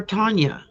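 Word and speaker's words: Tauna: Is it Tana or Tanya? Tana. T-A-U-N-A. Tana.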